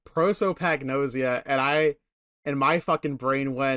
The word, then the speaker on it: prosopagnosia: is uh sorry I have it right here prosopagnosia prosopagnosia and I in my brain